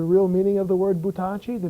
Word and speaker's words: Buttacci: with Buttacci in it because pronounced Buttacci, it means throw us. Butta means throw, and ci is us, so Buttacci. But our name pronounced Buttacci is a very old Sicilian term that meant little bells, bells like in church.